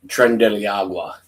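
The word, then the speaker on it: Tren de Aragua: Trump Trend Deiagua.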